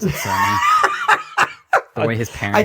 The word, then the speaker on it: Cerny: please pronounce it Cerny.